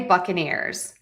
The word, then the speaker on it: Buccaneers: We're primary stress is on tam and buck.